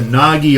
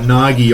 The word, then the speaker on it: Naghir: that just off uh Nagi Island n-a-g-h-i-r is how you spell it guys but I guess n-a-g-i Nagi but the English name